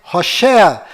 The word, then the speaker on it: Hoshea: Este nome que você está vendo é o nome de Oséias, do qual Moisés mudou para Josué, mas a pronúncia correta de Oséias é Hoshea.